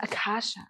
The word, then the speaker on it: Acacea: so clever wow and how is it pronounced it's Akasha oh my God you